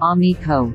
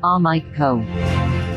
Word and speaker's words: Amico: the shooting you would have known that it's pronounced omni ko not ah mike ko same was said about we